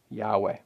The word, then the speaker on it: Yahweh: We often place that back into the Scriptures as He intended, and based on our best scholarly guess and many others, we pronounce that as Yahweh.